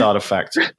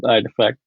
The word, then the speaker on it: RTFKT: Yeah, I thought you were talking about Dolce and Gabbana at first, but no, it's Artifact. Yeah, Artifact.